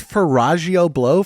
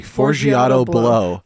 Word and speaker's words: Forgiato Blow: The It's a guy's big- name is Faragio Blow. Faragio Blow. How do you say it? Fellatio Blow? Forgiato. Sorry. Forgiato Blow.